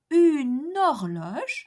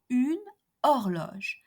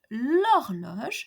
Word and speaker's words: horloge: Horloge in French is a feminine singular noun beginning with a mute H. Why? Because we say une horloge and not une horloge. And we say l'horloge and not la horloge.